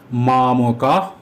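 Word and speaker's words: মামকাঃ: কারণ বিসর্গের পরে যদি প বা ফ থাকে তাহলে বিসর্গের উচ্চারণ ফ এর মত হবে কিন্তু ফ নয়। এখানে বিসর্গের পরে পান্ডবাসচৈবের প আছে। একে বলে উপদ্দানীয়। সুতরাং উচ্চারণটি হবে মামকাহ পান্ডবাসচৈ। যদি মামকা শব্দটিকে আলাদা করে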